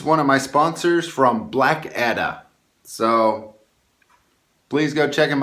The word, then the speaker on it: Blackadda: of the sons of Black Edda. I've been saying it wrong for almost a year, everybody, so I'm finally admitting that I'm wrong. So let me go ahead and pronounce it correct.